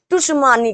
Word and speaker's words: सुनामी: जाता है, तो आप टुशमानी कहते हैं। ठीक है, हिंदी में तो सुनामी है और सुनामी ही वहां पर लिखा है, लेकिन उसके प्रोनाउंसिएशन में टी लग जाता है।